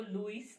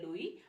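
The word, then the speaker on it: Louis: ठीक है, सबसे पहले मैं आपको ये बता दूं, द एस इन लुई is silent. जो लुई का एस है, दिस इज साइलेंट, तो हम इसको लुइस नहीं पढ़ते हैं, हम इसको लुई पढ़ते हैं.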